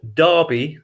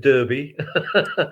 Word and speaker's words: Derby: you'd heard of and it's pronounced darby not at derby i know you have